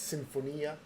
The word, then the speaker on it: Sinfonia: Maestro series Symphonia um I think in Italian it's Symphonia um and actually look at